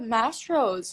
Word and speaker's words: Mastro's: Oh my god, Mastros.